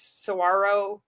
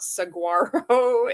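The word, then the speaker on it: saguaro: I think it's Isn't it sarro? I mispronounce words all the time, but I think he's talking about the cacti. The cactus sarro, not saguarro.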